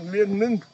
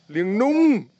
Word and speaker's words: Liêng Nung: Another 9 minutes Until we reach Lien Nung waterfall.